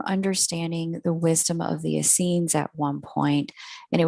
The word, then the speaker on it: Essenes: the hebrew mystic sect the essenes sometimes pronounced as the snoy or the asina greg braden is if